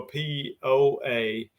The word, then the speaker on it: Poa: i had to guess look up poe annual p o a that's one word second word a-n-n-u-a hard to pronounce so we just say poa but uh it it